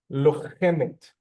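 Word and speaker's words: לוחמת: Putting that aside, lochemet, lochemet. Well done, Jason, again. And we hear the et sound at the end.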